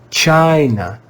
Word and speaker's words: China: and we said that in the word China, the vowel I is pronounced with the long I sound, I, because the vowel comes before a single consonant, and because the vowel I was in a stressed syllable.